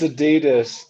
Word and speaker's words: adidas: it do you really say he does it's adidas that's what he's it is adidas you're right